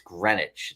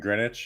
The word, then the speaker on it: Greenwich: because I think it's it's Greenwich. The W is silent for some For some reason, we still do these stupid silent letters. I don't get it. I don't get it. Oh, and Greenwich.